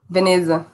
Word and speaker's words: Veneza: Veneza.